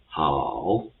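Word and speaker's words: 好: So first of all, the correct tongue of how is the third one. So it's a falling and rising tongue. So it will be pronounced as a how for example.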